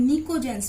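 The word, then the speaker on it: pnictogens: Group 15 elements को हम निकोजेंस भी बोलते हैं। P साइलेंट होता है और हम इन्हें निकोजेंस भी बोलते हैं।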